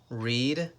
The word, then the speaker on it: read: Read, read. Remember, these words, we write them the same, but we pronounce them different.